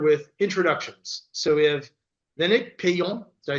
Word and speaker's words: Lénaïc Peillon: So we have Lénaïc, Peillon.